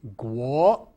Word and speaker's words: 国: Another high frequency word in this syllable is guo, guo in the second tone meaning country.